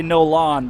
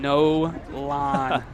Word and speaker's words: Nolan: I think you pronounce Nolan Nolan, so that that we got squared away. Yeah. No, he tried to he's tried to say no lawn, but I wasn't buying that one.